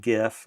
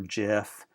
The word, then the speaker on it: GIF: the first one was gif or Jif people argue over the correct pronunciation of that but gif is the